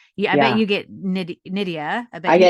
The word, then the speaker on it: Nydia: all the time and it's Nidia or in Spanish Nivea. I do code switch a little. Um but I I just politely just say because it's definitely happened where I'll say my name, I try to say as loudly as clearly as possible. The person will come back with Nadia and I'll just politely repeat back, no, it's Nidia like Lydia.